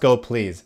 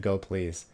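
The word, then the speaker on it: gopls: say go usual please it's pronounced go please at least at least from the person who did a talk on it once that I saw they pronounced it go please Eric you need a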